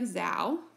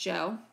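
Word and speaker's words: Zhou: is the Joe so if you look at this word it looks like Zhao but it's actually pronounced Joe this is the longest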